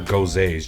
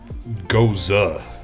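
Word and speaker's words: Gose: I always thought they were Gozes. G-O-S-E is Goze. I'm reading this, and it says Goza.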